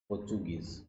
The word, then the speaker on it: Portuguese: शब्द पढ़ते हैं प्रोनाउंसिएशन, ये होता है पोर्चुगीज। पोर्चुगीज, ठीक है।